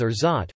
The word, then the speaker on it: orgeat: To set the record straight, the word is pronounced as orgeat, with two equally stressed syllables.